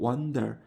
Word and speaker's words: wonder: 원더가 아니고 wonder. 살짝 A 발음인 wonder, wonder, wonder.